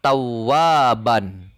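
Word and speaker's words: ثوابا: Dibacanya syafa'ah. Nah, ini pada kata selanjutnya ada tawaban.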